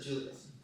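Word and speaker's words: Giulio: Guilio, please do the pronunciation, my Lancastrian tones. It's Julia. Oh, lovely, thank you. Julio, your question please to the Mayor.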